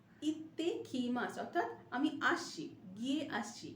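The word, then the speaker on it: いってきます: মাস, ইত্তে কি মাস, double pronunciation of ত, ইত্তে, ইত্তে কি মাস, অর্থাৎ আমি আসছি, গিয়ে আসছি, ইকু মানে যাওয়া, ইত্তে কি মাস গিয়ে আসছি।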